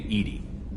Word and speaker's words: EDI: why are you named edie edie is the phonetic pronunciation of edi that is an acronym for enhanced defense intelligence why are you named